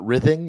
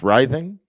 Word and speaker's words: writhing: he was that's the it's not rything it's writhing writhing and we do have